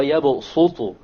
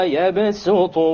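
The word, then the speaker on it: يبسط: It is to tell you that it is preferred to pronounce it with a sin. So you don't say Wallahu yaqbidu wa yabsutu. You don't say so. Rather you say Wallahu yaqbidu wa yabsutu wa ilayhi turja'un.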